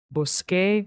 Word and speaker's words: busqué: Busqué mi teléfono esta mañana. Busqué mi teléfono esta mañana. Excellent. Busqué mi teléfono esta mañana. That little Q in busqué is there for pronunciation.